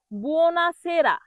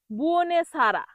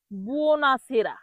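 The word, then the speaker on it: buonasera: বুনাসেরা এর বাংলা অর্থ হবে শুভ সন্ধ্যা। অনেকেই ভুল করে এটাকে বলে বুনে ছাড়া। কি বলে? বুনে ছাড়া। সঠিক হল বুনাসেরা। সঠিক উচ্চারণ কি হবে? বুনাসেরা।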